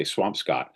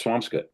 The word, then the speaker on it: Swampscott: There's so many things that are pronounced funny up here. Like I live in what you would say Swampscott but it's Swampskut.